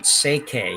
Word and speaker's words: Schwaller: this is Aniko, and it sounds like you pronounce her last name Seike. You don't pronounce the L at all, and that's what it is.